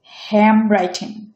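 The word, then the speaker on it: handwriting: যেমন আমি প্রথম ওয়ার্ডটা নিয়েছি হ্যান্ড রাইটিং, এটা ওরা অ্যাসামিলেট করে উচ্চারণ করে হ্যাম রাইটিং, হ্যাম রাইটিং। এন এবং ডি উজ্জ্ব থাকে, এই দুটো চেঞ্জ হয়ে এম হয়ে যায়।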